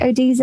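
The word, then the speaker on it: ODESZA: Is that how you say Odessa? Yeah. Odessa, yeah.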